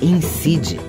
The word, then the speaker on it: incid: projeto indicadores da Cidadania incide participe cadastre sua organização ou movimento no nosso banco de dados pelo site incide.em é com c e o d é mudo incide.em Niterói procure